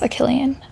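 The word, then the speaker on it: Achillean: Um I think it's No, it's pronounced Achilian, isn't it? Like Achilles. Achilian. Yeah.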